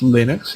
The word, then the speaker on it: Linux: Linus Torvalds, the creator of Linux, sorry, it's pronounced Linux, even though I call it Linux.